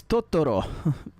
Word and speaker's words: Totoro: If you pronounce Totoro Totoro, it's Totoro. It's Totoro. That is the correct way to pronounce Totoro. You can only say it this way because of how Japanese works. If you say it differently, you're wrong.